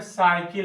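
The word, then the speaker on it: cycle: जैसे सी के बाद YE, जैसे सी में साइकिल आ गया, साइकिल। तो यहाँ साइकिल क्या हुआ, यहाँ पर सी के बाद वाई आया तो सा का उच्चारण हुआ, ठीक है।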